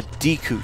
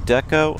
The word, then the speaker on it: Deku: A Deku shield. Those of you who pronounce it Deco are wrong.